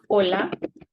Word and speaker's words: hola: Like hola. You see, we ignore the H and we start with the O.